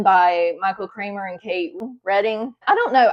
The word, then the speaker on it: Reading: Michael Kramer and Kate Reading. I don't know. I have to say Reading because that's how it's spelled. I'm pretty sure she pronounces it Reading.